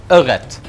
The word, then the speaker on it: ørret: How do you say trout in your language? Ørret.